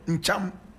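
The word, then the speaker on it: Ntcham: Now the Basaris in Ghana also have their counterparts in Togo, and they speak the language called Ncham. Ncham, and Ncham is spelled N-T-C-H-A-M.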